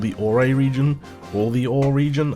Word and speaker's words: Orre: we are in the Orre region. It's spelled O-R-R-E. A lot of people pronounce it Orre, but personally I'm under the assumption that it should be called the Orre region.